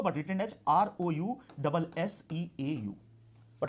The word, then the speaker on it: Rousseau: It is pronounced as Rousseau but written as R-O-U-S-S-E-A-U.